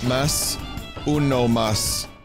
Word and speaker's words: Masamune: Vinny, you're pronouncing Masamune's third syllable wrong. Masamune. Mas uno mas.